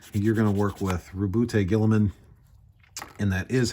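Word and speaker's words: Roboute Guilliman: You're going to work with Rubute Gilliman, and that is how you pronounce his name, Cope.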